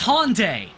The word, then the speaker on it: Hyundai: what did you do how do you just pronounce that name hyundai i'm an american i know yes no it's it's hyundai it yes no this